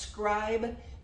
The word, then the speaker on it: Scrib: There's no E on it, but it's pronounced Scribe 3D PI.